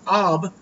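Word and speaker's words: אב: It comes from the word, which we would pronounce Ab, but it's A-B.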